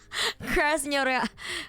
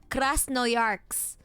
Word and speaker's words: Krasnoyarsk: Krasnoyarsk. Well, how do you say it? Krasnoyarsk? Krasnoyarsk.